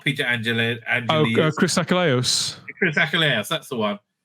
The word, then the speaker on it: Achilleos: How do you pronounce his name? No, it's not Peter Angeli. Chris Achilleos.